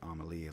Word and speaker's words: Amélie: After several attempts, Amélie, I guess I'm pronouncing it like Amélie, like the French movie, Vidal was able to